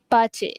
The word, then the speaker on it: pace: Pace. Bukannya pais tapi pace.